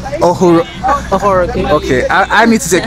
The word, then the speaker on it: Ohuruogu: British champion in the 400, you know, sister to, yeah, for y'all who don't know, she's her sister is Christine, pronounce her name. Ohuruogu.